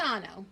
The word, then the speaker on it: Paisano: Paisano. Paisano? Paisano. So you almost say it like there's a B in there, to me.